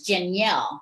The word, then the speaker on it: Janielle: It's Janielle, right? It's just like Danielle with a J.